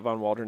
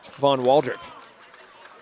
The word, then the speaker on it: Waldrop: No, it's not Von Waldron again. I said it wrong. Von Waldrop.